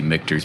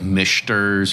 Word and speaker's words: Michter's: kind of where and I'm actually glad that you say mters because I I I hear so many people butchered all the time probably like your last name right and they say like they say like MERS or mners or something like that right so